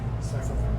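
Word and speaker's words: Syfovre: Okay, how do you pronounce the sponsor's Cyfovre. Cyfovre.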